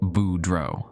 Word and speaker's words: Boudreau: "The Boudreau family needs someone reliable," she'd said, pronouncing it Boudreau, the way locals do.